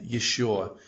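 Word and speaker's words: ещё: Here are the two most common words that have the yo in it. This is ее, meaning her, like this is her book or her house, and еще, which means still or yet another.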